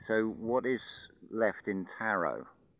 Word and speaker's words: Tarot: what is left in Tarot notice it's a silent t on the end as well it comes